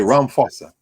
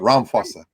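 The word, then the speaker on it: Ramaphosa: the h cuz we phonetically the ph makes an f sound but maybe in so they say ram fossa not rama but ram fossa rampulsa yeah f like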